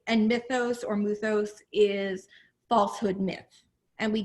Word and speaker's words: mythos: to help us navigate um the world of muthos and she just corrected me in my pronunciation thank you versus logos uh so i